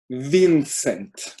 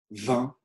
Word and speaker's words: Vincent: Si j'étais anglophone, j'appellerais ce prénom Vincent. C'est-à-dire que je vais vraiment essayer de prononcer toutes les lettres. Mais si je parle français, je vous laisse quelques secondes pour répéter ce prénom en français et vous verrez tout de suite, je vais prononcer Vincent.